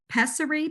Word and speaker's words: pessary: You just talked also about, and I'm going to pronounce this incorrectly. Is it Pessary?